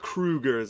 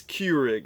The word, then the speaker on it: Keurig: cue rigs I believe it's not Krueger's it's Keurig so if I'm mispronouncing